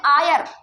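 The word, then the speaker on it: heir: एच ई आई आर अब बताओ इसको क्या प्रोनंसिएट करेंगे आयर आयर है ना क्यों आयर प्रोनंसिएट करेंगे एच यहां पे सो रहा है क्या यस साइलेंट है ये जो एच है दोनों ये दोनों ये क्या है साइलेंट साइलेंट है ना अभी हमने बताया अगर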